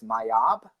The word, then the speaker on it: Mayab: Yeah, so like the pre-Columbian word of how you pronounce Maya is Mayab, and Mayab translates to people of the number 13.